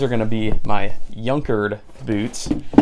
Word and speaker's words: Junkard: going to be my younkered boots spelled like junkard but pronounced younkered in Bourbon shell quarterman